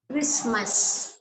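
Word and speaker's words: Christmas: அடமானம் right mortgage mortgage கிறிஸ்மஸ் கிறிஸ்மஸ் இதுலயும் அந்த டீய வந்து கிறிஸ்மஸ்னு சொல்ல மாட்டாங்க இது வந்து சைலெண்ட் தான் ராபர் டி இது இது என்ன அர்த்தம்னா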